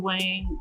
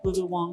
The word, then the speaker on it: Wang: it shot really well lulu wang or wong wong sorry uh it's spelled w-a-n-g though but you know different pronunciations and whatnot but yeah yeah she